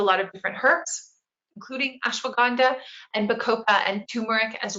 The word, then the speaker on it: ashwagandha: It's that ashwagandha, the fun one.